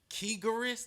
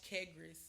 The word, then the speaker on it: Karas: talk about your agent kearus that's how you that's how you say it it's not but you was real close how you say it you wasn't even close I'm l a damn so it's Karas Karas bro I'm sorry for